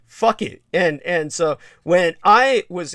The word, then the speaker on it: Phuket: they're comical, or Thai names from Thailand, like Phuket, the name of a city in Thailand.